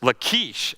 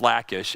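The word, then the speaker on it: Lachish: Like he's using a Hebrew name and stuff and it wrecked it cuz it's Lkesh. I'm like, "No, it's lackish."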